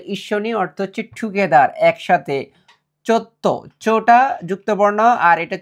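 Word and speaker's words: ちょっと: চোত্ত। চোটা যুক্ত বর্ণ আর এটা ছোট সু, আমরা জানি ছোট সু থাকলে এটা ধিত্ত উচ্চারণ করতে হয়, তাহলে চোত্ত।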